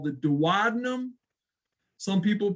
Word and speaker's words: duodenum: The first section is called the duodenum. Some people pronounce it the duodenum.